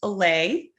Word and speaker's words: Allay: and ceo of alley consulting yeah it's actually pronounced alley i think i did that the first time